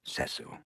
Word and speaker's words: Cecil: look dr pritchfield cecil if i may it's pronounced cecil damn it i only push tyler down the